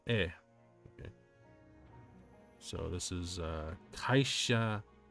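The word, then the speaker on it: へ: When used as a particle, e is pronounced as e.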